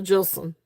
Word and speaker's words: Jilson: Jilson, pronounced with a J. Yep. So Jilson.